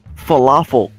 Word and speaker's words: falafel: Is it that hard to say falafel? I don't think really, he could read falafel. You literally get to put the wrong emphasis on the wrong syllable, because syllable rhymes with falafel.